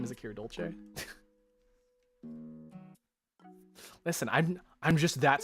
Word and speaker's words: Dolce: Dolce. Dolce. It's so funny how people can't pronounce my last name.